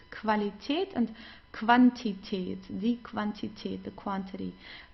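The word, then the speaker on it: Qualität: Whenever you have a Q and Q together, you pronounce it as like a K and W together like German W. Okay. So we don't say because many people say but it's not it's okay. So like in English it's quality but we don't have this in in German.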